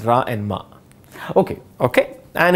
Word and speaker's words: Rama: that in carnatic music if the song is about rama or thing it's not rama it's ra and ma okay okay and it's